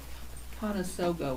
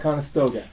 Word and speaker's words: Conestoga: that were shaped like Conestoga wagons. Yeah. I said that wrong. Yeah. I can't say it right. Conestoga. Conestoga. I missed the T.